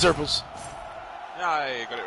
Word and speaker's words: xurpils: Otherwise, if xurpils or whatever it's called, I can't pronounce the name. It's xurpils.